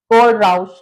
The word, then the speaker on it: Kohlrausch: बच्चों को इसकी प्रोनाउंसिएशन नहीं समझ आती है। सो इट इज़ not much tough. कोडराउस लॉ।